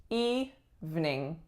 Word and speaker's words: evening: But again, we take out that middle syllable and we say evening.